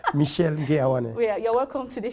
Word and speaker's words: Ngue-Awane: So he's going to pronounce his name alone. Michel Ngue-Awane. Michel Ngue-Awane.